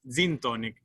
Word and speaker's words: gintonic: gintonic and i think they call it almost the same thing it's zintonic uh we don't they don't pronounce their g's it's a z so basically in in